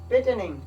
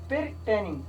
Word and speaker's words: pertaining: पेटेनिंग का मतलब इसमें आर साइलेंट है और ये इस तरह हम लिखते हैं, इसका स्पेलिंग जो है ये इस तरह है। देखिए भाई इसका स्पेलिंग इस तरह है PERTAINING। ये अच्छा लिखा जाता है पिरटेनिंग, लेकिन प्रोनाउंस होता है पिटेनिंग। प्रोनाउंस किस तरह करते हैं पिटेनिंग।